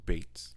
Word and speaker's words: Beetz: Also, just quick update: it is pronounced Bates.